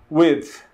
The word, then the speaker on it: width: Esse também é bastante difícil para a gente pronunciar, é width, width, width, ok? Então, esse D também bem sutil, tá?